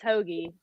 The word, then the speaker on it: Hoge: Is it really Hoagie? Yep. Yes. Wow. No why it's like JJ. Hoge, but it's Hoagie.